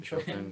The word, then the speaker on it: Chopin: pronounce it? Chopin, Chopin, yeah.